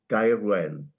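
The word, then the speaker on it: Gaerwen: As a South Walian, I would call it Gairwen.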